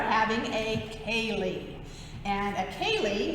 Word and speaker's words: Ceilidh: And a Ceilidh, spelled like this in Irish Gaelic, but is pronounced like this, Ceilidh.